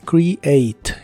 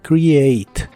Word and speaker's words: create: de inglés es create la primera e de esta palabra se pronuncia como I y la a se pronuncia como e por eso es create create la e del final no se pronuncia en el presente la